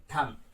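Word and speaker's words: thumb: क्रम, क्रम, या फिर मैं बात कर लेता हूं लैम, यस ऑफ कोर्स, या फिर थम। तो इन सभी में हम बी को जो है वो प्रोनाउंस नहीं करते हैं, बी लेटर हमारा साइलेंट हो जाता है।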